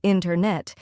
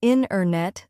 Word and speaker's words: internet: We don't usually say internet. Instead, we say internet. The t sound gets softer or disappears.